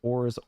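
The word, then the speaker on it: orz: There's no set way to pronounce it, and as such, many people pronounce it as orts, ors, or orse. I think ors is the way.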